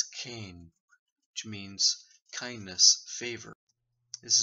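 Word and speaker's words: חן: From the Old Testament, it's pronounced as Cain, which means kindness, favor.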